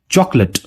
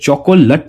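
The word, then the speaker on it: chocolate: पहला वर्ड है चॉकलेट। चॉकलेट। ये चॉकोलेट नहीं होता या चॉकोलेट नहीं होता, ये होता है चॉकलेट।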